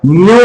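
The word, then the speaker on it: mu: म्यू बोलते हैं इसको। क्या? म्यू, म्याऊ नहीं, म्यू। ठीक है, क्या बोलेंगे? म्यू। ठीक है ना, MYU, ये प्रोनाउंसिएशन है।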